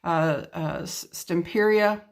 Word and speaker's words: Stamperia: the most beautiful papers, Stamperia, I believe is how it's pronounced.